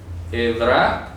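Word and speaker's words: עברה: Ok, la palabra Edra. Por eso es importante ir desmenuzando en hebreo estas ideas. Y eso no es ira, Edra no es ira. Edra, repito, así se pronuncia.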